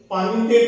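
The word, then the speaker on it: palmitate: एक होता है सर सोडियम पानीटेट होता है, L साइलेंट होता है, पानीटेट PALMITAT।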